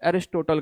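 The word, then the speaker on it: Aristotle: अब इसके फादर कौन थे, इसके फादर का नाम था अरिस्टोटल, यानी कि अरस्तु। हिंदी में उनको कहा जाता है अरस्तु, इंग्लिश में इसका अलग प्रोनाउंसिएशन कहता है एरिस्टोटल कहा जाता है, ठीक है ना।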